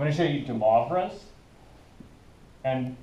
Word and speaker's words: Moivre: to show you de Moivre's. And when you pronounce Moivre's, you pronounce that as mauve, which is a color.